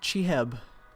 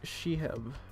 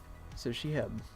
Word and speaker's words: Chiheb: Is it pronounced Chiheb? I'm really bad at pronunciations. Oh, it's pronounced as... Okay. Pronounced as... Shiheb. Correct first try? Okay, so Shiheb.